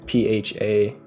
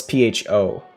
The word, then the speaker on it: pho: that's like pha right let me make sure pha that's how you pronounce it let's see i mean that's how you spell it not pronounce it no it's pho i'm so stupid again